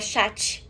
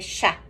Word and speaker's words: chat: Sim, então esse T mudo no final do francês também não se pronuncia, a mesma coisa do chá, que é o gato. Não é chat, é chá, só isso.